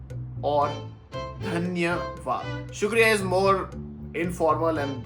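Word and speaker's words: धन्यवाद: But the pronunciation is shukriya or dhanyawad.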